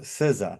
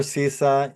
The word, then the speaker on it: CISA: Ana with regard to SIZA right Siza or CISA you pron pronounce it you know in Australia they call it the caizar right but pronounce it the way you like right uh but uh